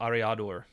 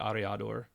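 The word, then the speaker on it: Aryador: um so it's it's a-r-y-a-d-o-r so i'm i think i'm pronouncing that correctly but ariador so maybe related to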